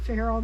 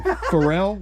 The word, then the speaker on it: Pharrell: Candace I think that's that Pharrell guy or feral how do you say his name it's not Farrell that's sweet wild cats I know Pharrell it's Pharrell Williams right is that his name okay and